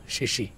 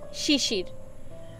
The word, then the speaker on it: শিশির: আমার নাম শিশি না, শিশির। আর আপনি কখনো আমার সামনে আসবেন না, এত পচা করে আমার নাম কখনো কেউ উচ্চারণ করেনি। ও শিশির মানে র আছে, দেখেন আমি কি পুরোটা শুনতে পারিনি।